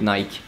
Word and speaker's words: Nike: No, not Nike, you pronounce it Nike.